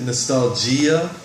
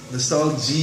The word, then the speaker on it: nostalgia: one nostalgia some people might pronounce it nostalgia nostalgie young I i say nostalgia you could hear both pronunciations this is the definition